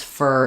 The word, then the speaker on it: for: correct pronunciation of "work," as well as a reduced "for" becomes "fur" in fluent speech.